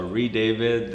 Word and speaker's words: Redavid: When I came to Canada from Italy, normally there's an E on the end. Yeah. And they took the E off because a lot of people couldn't pronounce it properly. Right. So Redavid, and we decided, it's